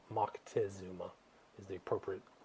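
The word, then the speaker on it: Moctezuma: empire empire a guy by the name of Mocktazuma or Montazuma as they say here in the states but it's Mckesuma is the appropriate pronunciation.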